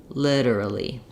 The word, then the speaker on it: literally: try to stretch and lengthen on your Li and then your dur dur are going to be really fast that is one strategy if you're having trouble you can try just doing the fast syllables durly durly literally literally um that's one of